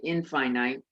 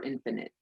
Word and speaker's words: infinite: unending i don't know why we say finite and we don't say infinite you would think that would be how we say but we say finite or infinite so the the the way you pronounce them is different but one means limited